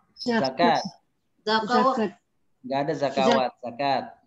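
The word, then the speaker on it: زكاة: Rijalul la tulhihim tijaratun wala bay'un 'an dzikrillahi wa iqamis sholati ita'i az-zakah wa ita'iz zakawati. Bukan zakawat, zakat.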